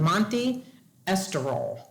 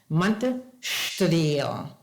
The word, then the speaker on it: Monte Estoril: Now you look at that and I look at that and it's pronounced Monte Estoril, right? Wrong. Monte Estoril.